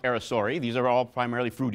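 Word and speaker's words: aracari: read it spell it's spelling Air carry but pronounced arisori these are all primarily fruit eaters these guys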